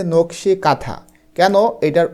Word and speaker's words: কাঁথা: সেটা হলো নকশী কাঁথা এটার উচ্চারণ কিন্তু কানথা হবে না উচ্চারণটা হবে কাঁথা একটু পরে তোমরা জানতে